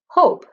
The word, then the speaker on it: hope: The E in hope is silent. So she's doing shh to remind you the E doesn't make any sound. Its job is to jump over the P to give the O the long sound. O says O when it's long. So this silent E, sneaky E, jumps over the P and tells the O to say its own name. So O, hope, 3 sounds, even though there are 4 letters.